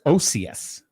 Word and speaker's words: Occeus: And it's pronounced Occeus.